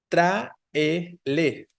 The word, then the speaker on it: tráele: tráele sin acento, pero es una palabra esdrújula, ¿no? Traele. Tiene tres sílabas. Es entonces esdrújula porque la tónica es la, hay un hiato exacto entre la A y la E, ¿no? La tónica es la antepenúltima, entonces tráele debe llevar tilde.